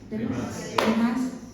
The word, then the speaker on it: Demas: Porque Demas o Demas? Demas. Acento en as.